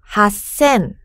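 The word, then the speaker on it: 八千: 이라고 발음하는 것 똑같은데요 앞에 있는 글자를 쪼끔만 1 쓰 로 바꿔서 발음 하는 거예요 잘만 우선 발음 들어볼까요 럭 쌤 럭 쎔 하 센 하 센 최근에 교과서를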